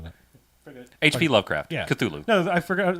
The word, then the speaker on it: Cthulhu: know i can barely is it cthulhu is how you say it yeah that's how you say that's pretty